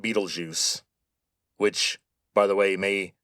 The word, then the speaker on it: Betelgeuse: By the way, that is how you say that name, Betelgeuse. Now, the spelling is German, but the name comes from Arabic.